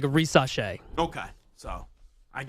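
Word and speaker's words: Risacher: he said like a reace okay so I guess like it's an S but it kind of sounds like a z it's a little French you know yeah it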